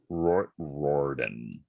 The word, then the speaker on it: Riordan: facts yes please first one how do you pronounce this man's last name rick riordan rorden who wrote the percy jackson books hated